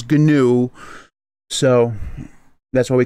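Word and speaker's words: GNU: and look it up it started as an acronym first word is ganu so that's why we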